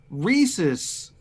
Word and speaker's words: Reese's: to pick with Aaron he mispronounced Reese's he was saying Reese so if anybody is